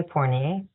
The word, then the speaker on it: Fournier: you and now Al your last name starts with an F forer I'm seeing I'm wondering why you're not pronouncing It the French way porier there's a story behind